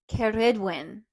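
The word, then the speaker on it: Cerridwen: and the other one is kedwin kedwin yeah with a little rolled R O I think I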